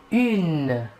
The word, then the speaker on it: une: Pour l'article indéfini féminin singulier, nous utiliserons l'article une. Une. Il s'écrit UNE. Il faut bien différencier la prononciation entre le masculin et le féminin. Au masculin, un, et au féminin, une.